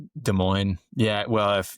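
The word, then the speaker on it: Des Moines: De Moines. Yeah. Well, if it's it's obviously a French word, but it's like not in the regional pronunciation.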